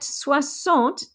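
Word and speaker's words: soixante: have c which is s i x but suassant takes an o so it becomes s o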